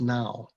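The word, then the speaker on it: hnau: theos lewis would say it's now to rhyme with tao because tao is something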